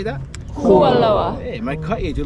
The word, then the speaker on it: Kualoa: Kualoa. Hey, my cut you. Do like you guys' pronunciation.